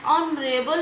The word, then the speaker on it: honorable: And here, an honorable man, H is silent.